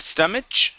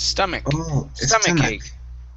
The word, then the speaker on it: stomach: going to be stomach instead of stomach with the ch sound it's a k sound stomach let's turn my cake